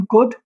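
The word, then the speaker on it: could: वो ध्यान रखना है डी डी कहीं भी आ उससे पहले एल आ जाता है तो वहां पर एल साइलेंट हो जाता है तो एक it will become कुड नॉट कुड कुड और वुड और शुल्ड नहीं भूलेगा कभी भी ये ये रहेगा कुड वुड और शुड राइट सेम आपको तीसरा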